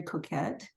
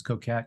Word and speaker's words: Coquet: is unintentionally because the the French pronunciation is actually coquet but when I was trying to get work as an actor I had a casting director tell me I better use Coquette because it was people